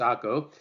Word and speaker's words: Acre: a Vatican City B AKO I know it's spelled AC re but it's AKO C Bethlehem or D